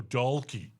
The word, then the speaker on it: Dalkey: They just said Dalkey instead of Dalkey. Just pronounce the L. Go Dalkey.